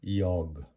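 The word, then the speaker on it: jag: এটা ইয়গ, এটা সবসময় যেকে আমরা ই বলবো ইয়গ, মানে আমি।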